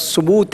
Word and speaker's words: ثبوت: لفظ ثبوت ہے, ثبوت نہیں ہے, زبر نہیں ہے اس کے اوپر.